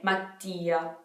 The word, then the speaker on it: Mattia: So we have the double T. So you have to make a pause right after the A. Mattia, Mattia. The I and the A are pronounced pretty strongly.